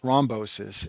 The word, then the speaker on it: thrombosis: second stent complication is called stent thrombosis and this name rhymes with restinosis but it's a completely